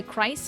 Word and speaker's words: Christ: Um it's the same reason why Christ is pronounced like with a K sound.